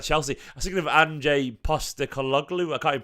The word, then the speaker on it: Ange Postecoglou: Apparently City rate Ange Postecoglou, how it's pronounced.